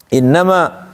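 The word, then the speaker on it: إنما: Innama inna ditahan tidak. In harus begitu bacanya. Enggak boleh innama. Enggak boleh gitu doang. Harus ditahan.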